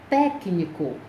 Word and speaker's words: técnico: um penúltima sílaba certo observe a palavra técnico o técnico a sílaba tônica é tec médico a sílaba tônica